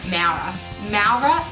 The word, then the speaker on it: Maurer: name MAA MAA is how you say my last name it's German for brick